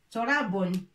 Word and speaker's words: تراب: Pour prononcer tout, il nous faut dhamma comme ça. To. Alif obligé pour dire ra. Bon. Torabun.